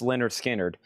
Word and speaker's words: Lynyrd Skynyrd: And Lynyrd Skynyrd, pronounced Lynyrd Skynyrd.